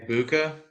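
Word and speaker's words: Egbuka: stoud and um is it Amelia is it ubca is that how you pronounce it um Uka Uka thank you um and then Henderson of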